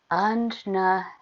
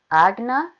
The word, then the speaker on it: Ajna: to this third eye Ajna practice. I've also actually heard it pronounced Agna, which is very similar to Agni, which is fire, which is not what the third eye is about.